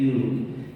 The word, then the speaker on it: Julu: Itu nama saya yang di atas tadi ya, Yulu, tulisannya Julu, bacanya Yulu.